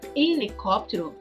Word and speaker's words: helicóptero: Helicóptero. Perceba que a palavra helicóptero, a primeira letra é a letra H. Porém, nós não pronunciamos a letra H.